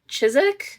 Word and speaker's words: Chiswick: This scene was filmed at Chisik. Chisik. Chiswick. Chisik. Chis. I said Chisik. You had it first time, babe. Yeah. At I literally hate how that's pronounced.